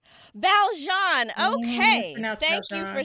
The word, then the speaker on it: Valjeanne: gonna i'm gonna make a small correction it's pronounced valjean valjean okay thank you for saying that y'all it's